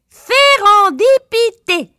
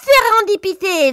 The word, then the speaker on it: Sérendipité: Sérendipité. Pas fastoche, hein? Cela s'écrit avec un S, un E, un R,